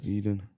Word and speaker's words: Edin: He's Is that, did I pronounce it right again? yeah, Edin? or I mean I say Edin. Edin. Edin. Yeah, Edin. but I know I mean there's a lot of Edins or Edin. Eden.